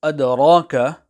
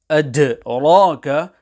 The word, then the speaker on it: أَدْرَاكَ: When pronouncing the word adraka, especially the letter dal, care needs to be taken to ensure that the dal is not pronounced as per the English D. Hence, to say adraka will be incorrect.